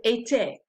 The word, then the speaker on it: était: Être changes to était, and if they both have an accent aigu, so you pronounce both E's, right? Était.